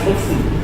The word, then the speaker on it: सूक्ष्म: आधा का और स मिल करके तो इसका उच्चारण वैसे ही होना चाहिए। तो पहले का आएगा, फिर श का आएगा, फिर माँ का आएगा। और चूंकि ये आधा है, स भी यहाँ पर आधा है, तो दोनों का आधा ही सूक्ष्म, लेकिन माँ पूरा है तो मैं का उच्चारण पूरा है।